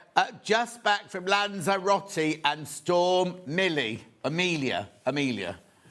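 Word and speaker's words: Lanzarote: Jill says, "Just back from Lonzerati." Look, now I'll say that again. That's how the locals say it.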